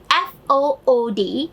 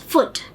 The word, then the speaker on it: food: sod next one is ooh elongated Oh sound as we use in F o ody in our indian they we pronounce it as foot but in english oriented